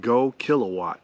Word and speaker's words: GoKWh: time it comes from a company called go kilowatt that's spelled g kwh right here and this batter's